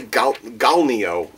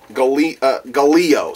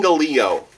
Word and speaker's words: Gallio: Let me reread this name so I know I'm pronouncing it correctly. Celine Gallio. I almost wanted to say Galnio. Gallio. Celine Gallio.